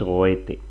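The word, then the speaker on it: Goethe: Y el autor es goete.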